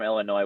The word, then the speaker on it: Illinois: You know, people from Illinois would smack you for pronouncing the S. Illinois. It's Illinois.